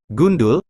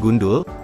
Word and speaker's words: gundul: serapan dari bahasa Jawa gundul di mana huruf d diucapkan dengan tekanan yang keras sehingga dalam bahasa Jawa